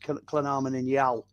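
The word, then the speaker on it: Llanarmon-yn-Iâl: And then IL is Llynarmon in Yal.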